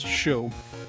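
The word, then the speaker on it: Chaud: Well, it's show. It's French for hot. Show would be the correct pronunciation. But of course, it's more fun calling him Chode.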